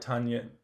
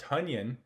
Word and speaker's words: Tonyan: touchdown jay sternberger had two catches so robert tanyan tanyan i'm sorry robert for mispronouncing your name robert tunyan is probably done i would not have any